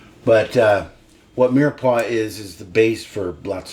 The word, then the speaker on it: mirepoix: So in French cooking they have, you've probably heard of it, the mirepoix. It's spelled Myers-Poix, which is tricky, Myers-Poix. But anyway, they don't know how to say anything right. But what mirepoix is the base for lots of soups and stews.